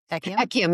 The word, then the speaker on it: Ekyam: Talk about what Ekyam? Ekyam, yes, you pronounced it correctly.